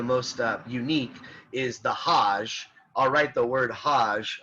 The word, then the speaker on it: hajj: it's that's it but it's the hajj is how that's pronounced so you're supposed to make it it's a religious pilgrimage okay for our purposes it's not that important to talk about the hajj you can look it